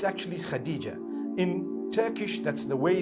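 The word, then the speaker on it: Hatice: across the name Khadijah in Turkish some people spell it h a a t i c e I would say hatis for that no it's actually Khadijah in Turkish that's the way they write it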